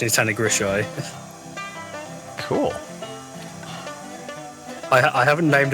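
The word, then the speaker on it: Tanygrisiau: like the the anglicization of it is like tanigrisio but ah the official pronunciation is Tony grishai cool I I haven't named a locomotive this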